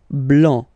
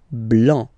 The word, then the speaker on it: blanc: Next, here, final C is not pronounced, okay? And then you get the nasal here, and it goes like en, en, so blanc, blanc, blanc, all right?